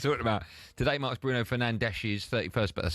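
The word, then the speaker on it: Fernandes: Anyway, what we just talked about today marks Bruno Fernandees's 31st.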